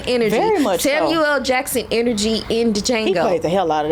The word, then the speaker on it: Django: a huge fan of Django I know that is silent but she's giving heavy Ste energy heavy Steven energy Samuel Jackson energy in Django play the hell out